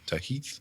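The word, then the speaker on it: Tahith: Tahit.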